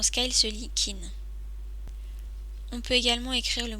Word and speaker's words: 金: ou le métal et il se lit souvent Kin son tracé s'effectue en huit traits commencer par